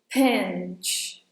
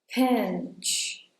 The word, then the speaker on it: pinch: When you say pinch besides doing that /p/, a very full of air /p/ that I mentioned earlier, make sure you also hold this /n/ sound for a little longer